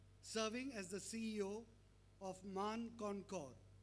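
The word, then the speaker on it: Mane: Jimon Kora is a prominent figure in the Indian business landscape, serving as the CEO of MAN Concor. It's spelled as M-A-N-E, but I guess I got the pronunciation right.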